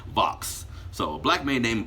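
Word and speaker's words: Vauhxx: A black man named, it's a weird spelling name, V-A-U-H-X-S. No, V-A-U-H-X-X. Yes, that's how his name is spelled. Vox.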